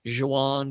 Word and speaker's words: Don Juan: harold's pilgrimage he writes don juan you have to say it has two syllables john is don juan but johan because he wants two syllables for the sake of the rhythm uh he writes a